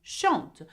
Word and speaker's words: chante: Okay, E-N-T. Now, though there is E-N-T, you do not pronounce the N and the T. You pronounce it as E, just like je, tu, il, elle.